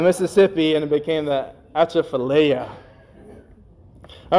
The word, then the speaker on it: Atchafalaya: I think I'm pronouncing this right. Atchafalaya.